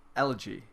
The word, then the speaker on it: elegy: Elegy.